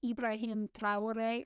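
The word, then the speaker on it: Ibrahim Traoré: Um, he then accused the leader of Burkina Faso, who is I think it's technically pronounced like Ibraim Trouore or something, but I'm going to pronounce it the very American way, which is Ibrahim Trouore, right?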